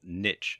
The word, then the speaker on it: niche: to do is to choose a niche, or niche as some people pronounce it. The term niche in this context essentially refers to a subject matter, an industry, and an audience.